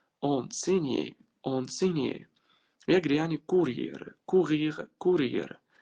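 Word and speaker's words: enseigner: الجي بقى لما يجي بعدها ان في الفعل اللي هو يعلم او يدرس، يعني ما بتتنطقش. انسيجني لا، انسينيي.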